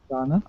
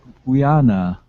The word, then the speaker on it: Guyana: It's Guyana. It's Guyana. Do you know the country? Ghana. Yeah. Ghana? No, Ghana. It's Guyana.